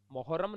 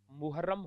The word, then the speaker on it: मुहर्रम: अंत भाव अंत भाव मुहर्रम मोहरम नहीं होता मुहर्रम होता है मोहरम मुस्लिम का एक